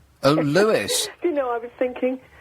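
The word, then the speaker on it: Lewes: Oh, Lewis.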